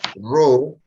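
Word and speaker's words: ρ: los trabajos prácticos Entonces ese coeficiente de proporcionalidad que se pronuncia ro es la resistividad eléctrica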